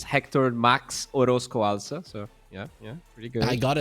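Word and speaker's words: Héctor Max Orozco Alza: It's Hector Max Orozco Alza, so yeah, pretty good.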